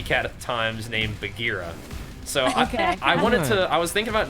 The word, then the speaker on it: Bagheera: But it should be Bagheera. Like, Bagheera's where it comes from, I think. Your pronunciation of it is perfect too. So you had the right idea. Like, so what I did is I put the J of Jackson in for the G in Bagheera, and it was like